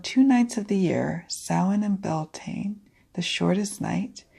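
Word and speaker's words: Samhain: future no longer dims the ancient Celts used to call the time of the longest night of the year soin pronounced salhan mm-hmm they believed that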